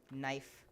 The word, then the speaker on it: knife: there's one last person why does the knife have a silent k like yeah it should be pronounced conniff knife knife knife because that